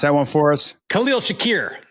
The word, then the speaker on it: Khalil Shakir: uh really really good tight ends running backs Shakur is that how you say his name ask Jay Jay can you pronounce that one for us Khalil Shakir Khalil Shakir is is a stud in the slot he